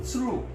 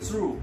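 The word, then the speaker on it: つる: These cranes are called tsuru. T-S-R-U, tsuru. T is silent and tsuru in Japanese means cranes.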